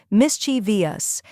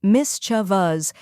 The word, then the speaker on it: mischievous: that often confuses people mischievous many mistakenly pronounce it as mischievious adding an extra syllable but by the end